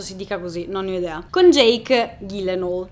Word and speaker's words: Gyllenhaal: dica così non con jake gyllenhaal si lo so è strano dirlo così ma ho scoperto che si pronuncia così chiedete a google infatti